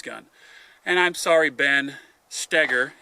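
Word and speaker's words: Stoeger: shooters shooting this gun and I'm sorry Ben stagger it's spelled Stoger but it's pronounced stagger and I I muffed it up yesterday at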